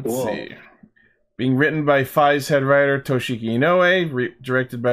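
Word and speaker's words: Faiz: know nothing about F aside from that it's pronounced F and not 555 but I think the way it works is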